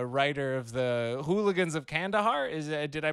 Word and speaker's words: Kandahar: The host of the Lions Led by Donkeys podcast, the writer of the Hooligans of Kandahar. Did I pronounce that correctly?